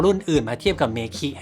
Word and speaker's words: MEKI: ครับ รอง เท้า รุ่น นี้ อ่าน ว่า เมคิ นะ ครับ เป็น รอง เท้า ที่ ทาง ิง